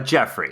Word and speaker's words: Geoffrey: Geoffrey is how it's pronounced.